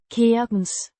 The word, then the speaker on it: kirkens: Keer-kens. With the K. as in kite, the I as in machine, and the S as in sun.